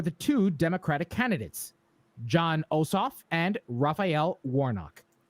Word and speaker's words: Ossoff: two democratic candidates john osof and rafael warnock i think i've heard it pronounced also awesome it's awesome you're right you're right